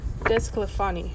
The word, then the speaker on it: DeSclafani: Desclafani.